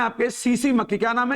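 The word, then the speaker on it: tsetse: का शब्द है ये ये सीसी ये साइलेंट है यहां पर इसको सीसी फ्लाई कहते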